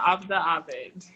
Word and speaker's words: Abida Abid: Her name is Abida Abid. I said it right? Yeah, Abida Abid. Perfect.